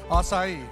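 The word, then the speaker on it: açaí: That's how you pronounce it. Acai.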